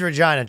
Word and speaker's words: Regina: 10 year old experienced Regina tried to tap into some of the more a unsavory attempts at humor namely the fact that it rhymes with vagina whereas vaginas are no